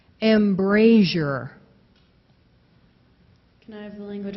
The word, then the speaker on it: embrasure: Embrasure. A little different on the first vowel sound. Instead of embrasure, it's embrasure.